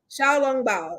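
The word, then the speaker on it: xiaolongbao: hold on hold on it's pronounced chao long bao okay all right i had to get together all right all right got it now i want to butcher that xiao long bao and and and shanghai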